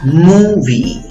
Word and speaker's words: movie: La U con los 2 puntitos significa U larga, ¿ok? Tienes que hacer la trompita para que te salga. Y tanto la I como la E se pronuncian como una sola vocal.